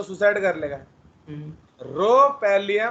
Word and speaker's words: rhopalium: ओहो, वो रोपैलियम है। हाँ हाँ हाँ रोपैलियम, देख रहे हो, तुम साला रोफालियम।